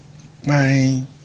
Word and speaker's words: kpain: The A has a rising stress mark from left to right, and the I has a dot under it.